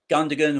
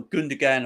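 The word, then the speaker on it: Gündoğan: good one last season gundam or gundagan or whatever you want to call him and so many pronunciations commentators calling different things all the time i say gundagon because that's the way it's spelt he was um tremendous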